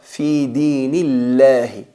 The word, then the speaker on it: في دين الله: Cuando la palabra Allah está precedida de una letra vocalizada con kasra, hay que pronunciar la lam atenuada. Fi dinillahi.